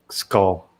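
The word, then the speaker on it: skål: celebrating they they uh they say skull as as a cheers it's it's spelled differently it's not spelled spelled SK k u l l it's like spelled a different way but it's it sounds like skull yeah Roxy is talking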